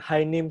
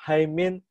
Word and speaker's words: Haemin: Jadi dia tegur saya, bacanya katanya bukan Hainim Sunim, bacanya Haimin Senim.